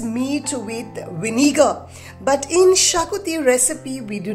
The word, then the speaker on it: Xacuti: interesting Goen recipe and that is of the Shakti many people mispronounce this Shakti as jaui but it is Shakti so let's get started with it on and